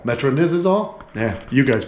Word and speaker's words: metronidazole: i'll allow i can never say it metro metronidazole metronidazole yeah you guys pronounce it out there it is but that's